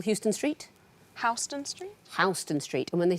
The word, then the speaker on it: Houston: Houston Street.